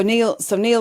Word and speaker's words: Neil: So Neil is Neil, but spelled Nile, and then Paua is spelled Paua, not Pua, which is what people, and that's his joke too.